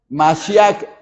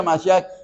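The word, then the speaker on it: מָשִׁיחַ: la palabra para Mesías en hebreo se pronuncia masia así como aparece aquí se pronuncia masia que es Mesías primero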